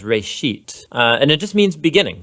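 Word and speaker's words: רֵאשִׁית: genesis genesis comes from a hebrew word uh it's pronounced reishit and it just means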